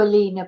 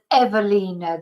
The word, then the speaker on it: Ewelina: keep uh calling you Alina but is evina the W is pronounced as a v party involvement or self-defense